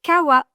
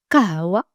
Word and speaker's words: kawa: française et avec humane vous entendrez la vraie prononciation d'origine en arabe. Le premier mot c'est kawa et ça veut dire cacher.